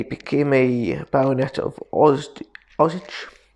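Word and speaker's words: Osidge: a baronet of oz osage i think it's pronounced orange os oh i d g e i think no o s i d g e there's no r so that spins it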